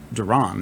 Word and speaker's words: Deron: would say but it's spelled d-e-r-o-n which is obviously pronounced duran and like for most